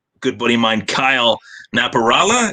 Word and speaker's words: Napierala: buddy of mine, Kyle Napierala. Is it Napierala? I always mispronounce that. I want to get it right this time. It's Napierala, but that's why I just go with Kyle Naps.